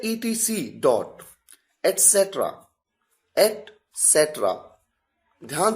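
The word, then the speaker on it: et cetera: अगला है ईटीसी डॉट एसेट्रा eight सेट्रा ध्यान से सुनिए इसकी प्रोनाउंसिएशन को एट सेट्रा इसका मतलब होता है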